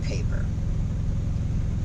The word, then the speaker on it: Payper: There is also a rapper in the UK called Potter Paper. Payper or PR, something like that. So it's spelled a little different than Paper.